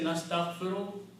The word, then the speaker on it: nastaghfiru: And when you say nastaghfiru, means we ask forgiveness. Okay? So I'm going to put the Arab here. Nastaghfiru.